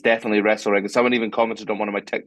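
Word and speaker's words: Restalrig: Notice that I didn't pronounce the T in Wrestle Rig because since I've I don't know, recorded the content, if you like, for the thing, I've since found out that it's Wrestle Rig, not Restal Rig.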